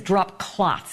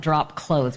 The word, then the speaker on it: drop cloths: but then he says drop cloths and he doesn't know how to spell it he calls it drop clothes but it's drop cloths then wipes and towels